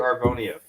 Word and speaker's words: Arvonia: Yeah, you usually say like something that's, I don't even know how to pronounce it, but it's actually Arvonia, just so you know.